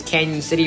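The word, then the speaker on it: Cañon City: After Gunnison, our new control city is Canyon City. The pronunciation doesn't make sense, but anyways, just signed Pueblo once again.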